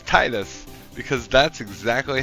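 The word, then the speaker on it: Tidus: Hearts 1, I guess, pronounced it Titus. And I refuse to say Tetus. So it's Titus for me, baby. Like I'm not saying Tetus.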